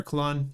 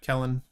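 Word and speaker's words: Kellan: Kellen or Kalan, you guys can pronounce it however you want. I think Kellen is technically the way.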